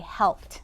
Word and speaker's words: helped: Here's our root word, and here's our ending or our suffix, but we don't say id on that one, do we? We say helped, and that makes that t sound at the end.